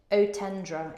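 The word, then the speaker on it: Eau Tendre: The Chanel Chance Otandra, I don't know how you say that. I tried to go fancy there. Otendra is how it's pronounced.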